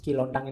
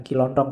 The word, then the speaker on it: Kilontang: Kilontang ini waktu diinterogasi antara lain yang diucapkan itu. Bukan Kilontong ya.